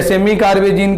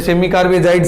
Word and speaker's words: सेमी कार्बेजाइड: Carbonyl यौगिकों की क्रिया सेमी कार्बेजाइड के साथ या सेमी कार्बेजीन के साथ कराने पर, वैसे सेमी कार्बेजाइड शब्द उच्चारण ज्यादा सही रहता है, तो कार्बोनिल यौगिकों की क्रिया सेमी कार्बेजाइड के साथ कराने पर सेमी कार्बेजोन बनते हैं।